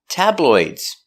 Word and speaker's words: tabloid: It's a light L. The tongue's in the front. L table oi tabloid d tabloid if it's one tabloid use a stop d tabloid stop tabloid more